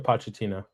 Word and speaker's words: Pochettino: Pochettino. Uh, Mauricio Pochettino.